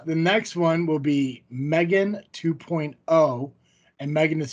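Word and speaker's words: M3GAN: 2023 I like how it has to put Megan pronounced Megan got after her parents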